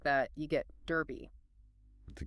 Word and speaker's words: Derby: It helps establish the name's importance and ensures the pronunciation sticks. Our last major Midland city is Derby, D-E-R-B-Y.